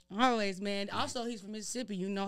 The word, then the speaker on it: Mississippi: A lot of people say Mississippi. I'm like, why you say it like that? We say Mississippi. Mississippi. Like, that's how it is.